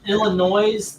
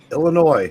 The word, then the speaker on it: Illinois: today they've still got to play over 500 Illinois the s I hope your wife beats your